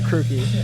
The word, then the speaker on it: Krooki: I go by Krooki. Krooki? Yeah. Could you spell that?